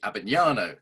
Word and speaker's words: Abbagnano: the show today, Anthony Abbagnano.